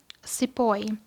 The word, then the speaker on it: Sepoy: So, Sepoy. This is how the British pronounced the word Sipahi, meaning an Indian soldier in the service of the British.